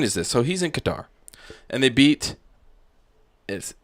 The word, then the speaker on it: Qatar: and Eric who guitar what I say queer quitter you said queer like Quinn Snyder yeah the queen no it's Qatar so I had this